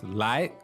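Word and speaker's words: 来: Yeah, so this lái, second tone, that means come, right?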